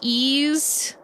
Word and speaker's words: Ys: Uh cuz cuz the it it's spelled wise but it's pronounced ease.